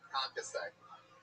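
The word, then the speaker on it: concassé: You could have probably easily have pronounced concasse correctly. Yeah, did I say it right? Yeah, concasse.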